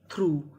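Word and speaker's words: through: टी एच आर यू जी एच थ्रू। थ्रू थ्रू का मतलब होता है में से। यानी यहां पे हमें यू जी एच का उच्चारण नहीं करना।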